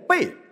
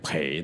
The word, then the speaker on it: 蓓: 培了，现在念贝，但是在 40 多年前这个字是可以念培的。